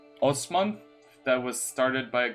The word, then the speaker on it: Osman: it's the Empire of Osman. So like Oz, the man, but it's spelled with the S.